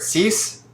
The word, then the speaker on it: six: uh yeah all right CE is the pronunciation of six in French set is the pronunciation